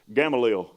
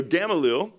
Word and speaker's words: Gamaliel: like he was from indian trail so that's gamalil that rolled off the tongue way too easy for someone like me so gamaliel a teacher of the law held in high